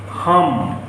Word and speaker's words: हम: The speaker is hum. How do you pronounce?